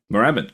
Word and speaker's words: Moorabbin: It was hard to, we're stumbling every time we say Valentich, Melbourne, Moorabbin? Moorabbin, correct.